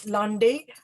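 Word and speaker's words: landay: it in the chat so that um l-a-n-d-a-y londy uh it's a form a short form of poem uh 22 syllables nine syllables in the top and uh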